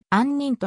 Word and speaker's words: 杏仁: 杏仁菓子などに使うときはあんにんと発音なおあんにん